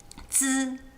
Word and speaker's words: zi: It's not just zzz, it's zzz, like with a D-ish sound at the beginning. Zi.